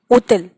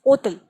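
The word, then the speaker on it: hôtel: Then another example, hotel, and we pronounce it as hotel. So it is hotel. Okay? Because again, H is silent in this word.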